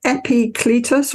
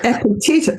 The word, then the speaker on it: Epictetus: Is it Epicletus or Epictetus? No wonder I couldn't say it. Epictetus.